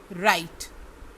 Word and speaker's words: write: WRITE, राइट, WRITE, राइट, इसमें W silent है।